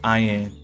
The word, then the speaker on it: Ayin: In this myth, John, Ayin, Eon, or Ayin, three forms of the word and all pronounced Ayin, represents the redeemed and